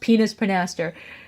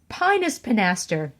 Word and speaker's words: Pinus pinaster: I met pinus pinaster I'm pretty sure it's not pronounced penis pinaster pinus pinaster oh my gosh this